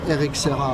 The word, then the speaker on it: RXRA: actually just to precise rxra in French pronounces exactly Eric sah like my name Eric sah okay that's why they